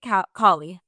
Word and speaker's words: Kali: But today we're here with Kate Callie. Is that how you pronounce it? Or is it Calli? Kate Kie. Kie as in the goddess. the goddess of sexuality and destruction.